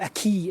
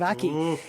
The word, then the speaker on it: Aki: reasons why i was giving out about people pronouncing his name a key instead of aki it's just it's because you just don't pay